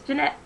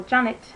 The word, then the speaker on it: Janet: already read this um it's Janette Edwards uh or Janet Edwards depends which way you want to pronounce it probably the correct way would be best so it's Janet Edwards um and it's Earth